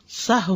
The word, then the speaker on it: سہو: کا فعل بھی ہے۔ سہو ہوتا ہے، سہو نہیں ہوتا، سب لوگ اپنا تلفظ بھی درست کر لیں۔ سہو جیسے لغو، ٹھیک ہے، کرب، نفس، سہو۔ سجدہ سہو کے اسباب،